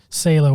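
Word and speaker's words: Salò: solo or sale oh I'd watch on the pronunciation say low or the 120 days of so Dom as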